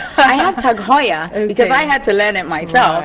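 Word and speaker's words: TAG Heuer: in and they go oh do you have tag I'm like I have tag Hoya because I had to learn it myself and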